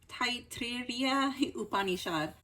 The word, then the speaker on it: Taittiriya Upanishad: So I always mispronounce this word right here, but I believe it's pronounced Taittiriya Upanishad.